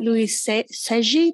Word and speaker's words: Luiselli: on this planet um courage tenderness and valeria luis seji that's how you say it i always said